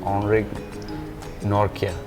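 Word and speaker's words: Anrich Nortje: है, हमारा south अफ्रीकन language में ये ऐसा प्रोनाउंस हो रहा है, ऑनरिक नॉर्किया, ये लोग नॉट जे नॉट ज्या तो अलग अलग नाम से बुला रहे थे।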